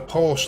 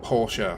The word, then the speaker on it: Porsche: was a point where the porsche license or porsche however you want to say it like none of us are wrong either way um was only was